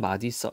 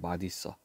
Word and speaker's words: 맛있어: 참 맛 있어 자 원래 는 원칙은 마이어가 맞아요 마이어 그런데 하도 사람들이 맛있어 맛있어 하니까 맛있어도 복수 표준 발음이 됐습니다 그래서 원래 잇 자 의미를 갖고 있어요 그래서 옷을 디귿으로 바꾸고 뒤로 넘기는 겁니다 그래서 원래는 맛 있었데 사람들이 맛있어 맛있어 해서 어 둘 다 복수 표준 합니다 자 뭐요 정도로 좀